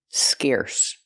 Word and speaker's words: scarce: Pronunciation, use the air sound like hair and chair, scarce.